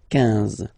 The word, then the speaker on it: quinze: Same thing here, U doesn't exist, so quinze, quinze, quinze, alright?